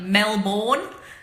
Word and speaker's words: Melbourne: Melbourne, like Melbourne. It's actually pronounced Melbourne, but we call it Melbourne. M-E-L-B-I-N. Melbourne.